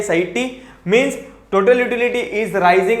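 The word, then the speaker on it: satiety: When, हाँ, point of सैटी बोलते generally, इसका प्रोनाउंसिएशन ऐसा ही है, सैटी means total utility is rising and marginal utility is falling.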